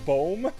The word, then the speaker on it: boom: Like that's how we pronounce that. Instead of boom, we said we say boom.